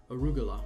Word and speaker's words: arugula: If I'm pronouncing that right, arugula. Okay, arugula, not N. There's no N in that.